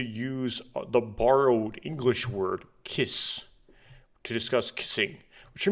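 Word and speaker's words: キス: a borrowed word but when you have Su at the end of a word you typically don't pronounce the uh so just kiss um interesting um and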